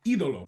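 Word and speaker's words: Ídolo: Uh accent on the eye. Eidolo.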